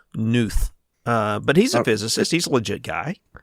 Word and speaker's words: Knuth: It's spelled Knuth. Like canoe. That's how you say it. Yeah, but it's not spelled like canoe. It's spelled like knock. So I think maybe the K silent, Knuth.